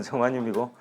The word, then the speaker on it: 게르마늄: 영어로는 저마늄이고. 같은 이름인데 이제 독일식으로 발음하느냐 영어식으로 발음하느냐에 따라서 게르마늄, 저마늄 이렇게 다른 것 같습니다.